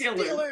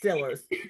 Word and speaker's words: Steelers: football fan of the Steelers. Excuse me. Excuse me. Remember, it's pronounced Steelers. Steelers. You're right. If you're from Western PA, it's Stillers. Thank you for reminding us. It's Stillers.